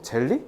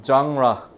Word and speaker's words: 장르: 봐 뭐 뭐 젤리 젤리 젤리 장라 젠 아니에요 장라예요 장ra라 너네 듣기 해 봐 장라라고 할 거야 장ra라 어 젤리 아니고요.